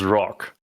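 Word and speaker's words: Rokh: battleship no no no that's pronounced Rock ah okay rock I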